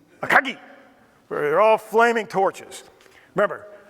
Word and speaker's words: Akagi: Within minutes, Soryu, Kaga, and Akagi, or I should say it like Japanese, Soryu, Kaga, Akagi.